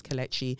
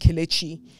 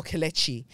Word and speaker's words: Kelechi: Thank you, as always, Kelechi. You see that? My name is pronounced Kelechi or Kelechi. Yeah? Not Kelechi.